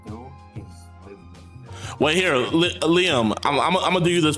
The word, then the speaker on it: Liam: Gater, that's how you pronounce it? Gater? You can just Gatar? My name is Liam. Who? Liam. Leo? You said Leo or Leo?